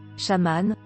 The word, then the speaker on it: chaman: qu'est-ce que le chamanisme le mot chaman issu du mot Samant prononcé chamane de la Sibérie aurait